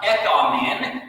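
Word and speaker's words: ἔχομεν: You see the O-looking thing in Greek, that's called an omicron, and that's pronounced ekamen, and that's what's called a present active indicative verb, which would mean we have peace with God.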